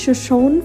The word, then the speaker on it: Shoshone: নাম হচ্ছে শোষণ ফল শোষণ ফলটা প্রোনাউন্সিয়েশন হচ্ছে শোষণ ফল আর স্পেলিংটা হচ্ছে আবার অন্য শোষণী ফল show S এইচ ও এস এইচ ও এন ই শোষণী ফল আর এই